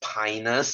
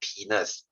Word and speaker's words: Pinus: your seaweed okay uh that one is pronounced as pinus swinging is not penis okay don't don't go